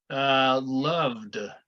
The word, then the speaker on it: loved: What about loved? What does it sound like? D. Sounds like a D, yes.